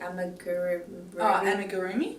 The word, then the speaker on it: amigurumi: Amigurumi. Amigurumi? It's like an extra what's it called?